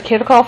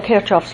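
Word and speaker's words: Kirchhoff: fact this gives us what are known as kirikov or kirchoff's laws different people pronounce it different ways so there are basically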